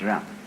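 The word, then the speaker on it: 仁: I don't know what they are, but it's pronounced Ren.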